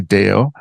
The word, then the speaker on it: Deo: Um can you tell me and and my listeners who Deo am I pronouncing that properly? Deo, you are.